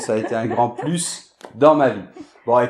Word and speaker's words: plus: Alors, après, quand "plus" est utilisé pour la négation, à ce moment-là, on ne prononce jamais le S.